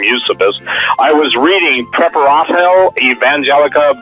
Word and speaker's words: Eusebius: you'll love this, Eusebius, some people pronounce him Eusebius, but I just call him Eusebius.